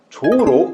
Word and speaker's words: じょう: 그런데 재밌게도 이 항상상이라는 글자는 조우로 음독되는 그런 한자입니다. 아시겠죠? 그래서 이 항상상이라는 글자는 조우로 발음된다라고 여러분들이 생각하시면 되겠습니다.